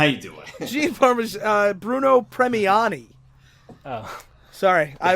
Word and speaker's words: Premiani: team that created them, Arnold Drake and Bruno Parmigiani? Parmesan? Don't ask me how to pronounce his name. Gene Parmesan, how you doing? Bruno Premiani.